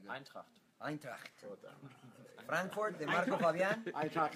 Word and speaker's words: Eintracht: How do you pronounce Eintracht? Because her German is not good. Eintracht.